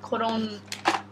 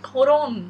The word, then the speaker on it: Collon: a hundred yen yeah it says colon with an extra l but it's pronounced i think it's from